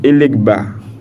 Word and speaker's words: Elegba: Elegba, c'est ça? Elegba. Elegba. Ça se prononce. Elegba.